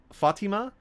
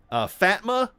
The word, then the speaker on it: Fatima: pronounced it, instead of, I believe it's Fatima, they say, Fatma? Is Fatma here? Hey, I'm looking for a Fatma?